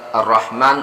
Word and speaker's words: ar-Rahman: membaca hal ini terasa dada kita bergetar jadi membacanya Bismillahirohmanirohim Oh ya ulangi bukan bismillah itab I Bismillahirohmanirohim Halo Bismillahirohmanirohim di sini ada ar-rahman ar-rahim nah sering juga sahabat-sahabat kita membaca roh